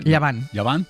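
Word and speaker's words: Llevant: Llavant.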